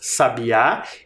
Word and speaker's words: Sabá: é o ni menina então Sabá é oxítona a última sílaba tônica e menina é paroxítona